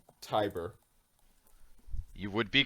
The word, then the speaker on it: Tiber: what were the numbers i might not be pronouncing the last one correctly i'm gonna say tiber you would be correct yes brock has 500